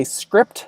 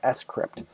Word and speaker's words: scrypt: So to me, I always want to say Scrypt when I look at it, but it's actually pronounced Scrypt.